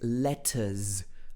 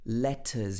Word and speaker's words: letters: how here he says letters letters he pronounces the t in the middle of this word letters letters he doesn't